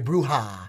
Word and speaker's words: Brewer: I'm sorry, like Dave said, Corey Bruja. Bruja is how you say it.